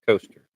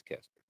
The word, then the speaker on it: Kester: Caleb Kester or Coaster. I assume it's Cester. Looks like Caster. We do have the head-to-head cast matchups for tonight. Kester. Yes, sir.